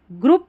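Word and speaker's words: group: ग्रुप में ये जो ग्रुप दे रखा है इसमें ओ यू का साउंड उ वाला हो रहा है।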